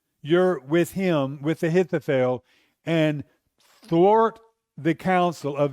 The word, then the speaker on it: Ahithophel: Almost said his name wrong. Ahithophel.